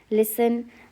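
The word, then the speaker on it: listen: लिसन में T silent है।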